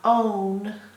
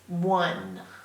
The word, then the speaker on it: one: it by heart because it is not spelled phonetically it's not own it's one one a lot of the